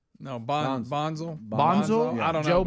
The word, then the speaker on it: Bonsall: Bonsall? No, Bonzel.